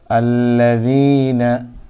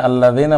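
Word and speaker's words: الذين: আল্লাযিনা আল্লাযিনা আল্লাযিনা আল্লা আল্লা দিনা দেনা, আল্লাহ দেনা বলা যাবে না, বলতে হবে দিনা, যেহেতু জের উচ্চারণ রশিকার হয়।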